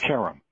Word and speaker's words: Karam: right half the time it's pronounced carom okay and i'm told that that's an americanized mispronunciation of the original but it works for us okay welcome back it's